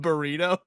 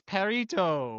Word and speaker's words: Purrito: I don't Although did you call it burrito? No, it's parto.